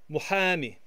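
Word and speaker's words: مُحامي: Lawyer in the masculine singular is muhami, muhami, muhami. This is an emphatic H that makes the h sound. It's heavy breathing, muhami. And the feminine singular form is muhamiye, muhamiye, muhamiye.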